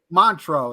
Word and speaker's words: Montreux: How do you say Montreux? Montreux is how you pronounce it.